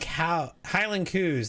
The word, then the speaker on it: coos: Saw a lot of Highland coos. That's how they say it.